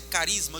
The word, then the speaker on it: charisma: um substantivo grego né Essa palavra Carisma escrita charisma mas a pronúncia Carisma de onde vem a